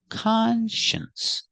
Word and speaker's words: conscience: the sence together conscience the stress is on the first syllable conscience conscience conscience is a